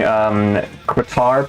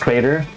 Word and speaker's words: Kratar: name is, and I'm playing Kratar, pronounced Crater, and I am a occult herb master. I got the ganj. question. Yeah. If it's pronounced Crater, why did you say Kratar? Because it's really Kratar, but he likes everyone to call him Crater.